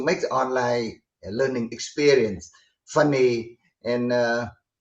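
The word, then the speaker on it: FUNiX: about your company now i'm going to pronounce it as funny i hope i've got that correct but it's spelled f-u-n-i-x and i'd be very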